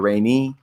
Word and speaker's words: Rainey: Is it Officer Rain or Rainey? Is she still? No, Krista Rainey.